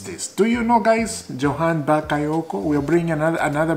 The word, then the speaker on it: Johan: Jonathan it's uh y Johan something like that Johan because sometimes this name uh when you pronounce Johan sometime sometimes Jay is like silent so sometimes it's like Yan you know just like